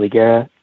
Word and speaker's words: Higuera: DHS and then my LinkedIn is just my full name igera igera is spelled h g u r a and I'm a professor